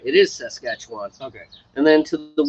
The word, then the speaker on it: Saskatchewan: montana is saskatchewan i was right it is saskatchewan okay and then to the west of saskatchewan probably butcher the name isn't he he didn't hear me